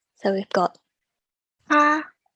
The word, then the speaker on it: 他: So here the next 3 are all pronounced the same. So we've got 他, 他, 他.